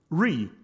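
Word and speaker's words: Wry: The Tau component, which builds the application window and handles the event loop within the application, and Re, which is apparently how you pronounce that, which does the web view rendering.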